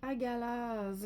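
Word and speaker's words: Hagalaz: Alors, elle se prononce agalaz.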